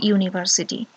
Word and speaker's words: university: We don't say university, we say university. So This university starts with U sound, which is a consonant sound.